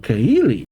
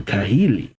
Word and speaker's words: Kahili: Already hearing about Cahili. I think that's how you pronounce her name. Kahili.